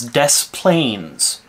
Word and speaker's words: Des Plaines: letters in the word i live in a place in chicago in illinois chicago adjacent called this planes they pronounce it here as des plaines if it was french